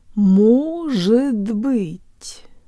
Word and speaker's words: может быть: Может быть, может быть, может быть.